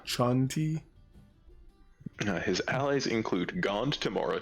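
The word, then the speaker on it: Chauntea: pronounce that name c-h-a-u-n-t-e-a I would say Shaun T yeah Shanti his allies include Gand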